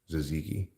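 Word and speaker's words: tzatziki: what it's called that's how you say it zaziki look I'm not denying that those things wrapped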